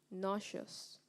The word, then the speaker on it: nauseous: by car makes me nauseous nauseous am I pronouncing the word correctly you are nauseous n a u s e o u s